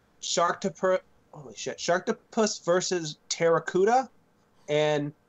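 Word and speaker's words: Pteracuda: Sharktopus versus Terracuda. And spelled with a P, by the way, so like pterodactyl.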